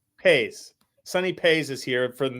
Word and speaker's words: Pais: Pais. Pais.